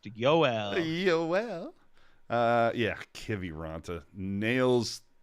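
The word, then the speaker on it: Joel: It's pronounced Yoel.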